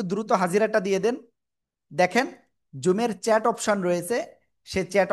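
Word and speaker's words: ظ: কোন জায়গা থেকে উচ্চারণ করব? জিহ্বার আগায় উপরে দুই দাঁতের আগায় লাগিয়ে মোটা আওয়াজে উচ্চারণ করব।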